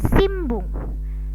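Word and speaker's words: しんぶん: Contoh, ini tulisannya sinbung, sinbung, tapi dibacanya menjadi simbung, simbung.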